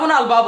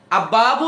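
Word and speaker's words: الباب: আল ছিল না এখন আলের লামটা উচ্চারণ হচ্ছে এটা মাথায় রাখবেন আব্বাবু না আলবাবু এটা মাথায় রাখবেন আলবাবু আচ্ছা তারপর তারপর আছেন তা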